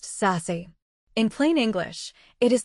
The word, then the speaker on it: SASE: Act 2 is Zero Trust, sometimes called SASE, Secure Access Service Edge, pronounced SASE.